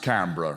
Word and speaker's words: Canberra: wants to ask you you do know it's pronounced Canberra right okay all right good okay so it